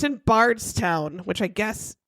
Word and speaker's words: Bardstown: It's in Bardstown, which I guess it's south of Louisville, and it's kind of where distilleries. How do you spell it? Bard, like the Shakespeare. Bardstown. Yeah, like the Bard.